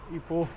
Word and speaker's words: Ipoh: Spelling है IPOH, बट यहाँ लोग इसे इपोह बोल रहे हैं.